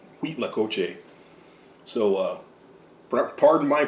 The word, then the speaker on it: Cuitlacoche: an h and they from what i've heard people say it's wheat like like cream of wheat wheat lacoche so uh pardon my